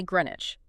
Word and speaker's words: Greenwich: Based on the spelling, you'd expect a hard chiz sound at the end, like in church or sandwich. But the WICH ending is almost entirely swallowed and compressed into an idge sound. It is Greenwich.